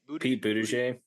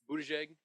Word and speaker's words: Buttigieg: Pete Buttigieg. Buttigieg. Is it Jag? you pronounce the Pete last Buttigieg is what I pronounce it.